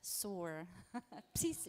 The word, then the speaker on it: PSOAR: Otherwise, you can join our mailing list, but the P is silent. SOAR.